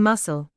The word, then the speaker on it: muscle: The letter c is silent in muscle.